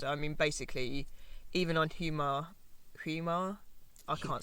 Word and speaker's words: Hiiumaa: I mean, basically, even on Hiiumaa, I can't say this island. Hiiumaa, you got it right.